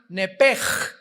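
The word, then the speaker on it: נפש: que al salírsele el nepesh, apúntalo ahí, el alma en el hebreo es nepesh, se pronuncia nepej. La ch en hebreo se pronuncia como J.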